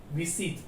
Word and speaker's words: visite: Visite. V-I-S-I-T. Okay. The French pronunciation of this is visite.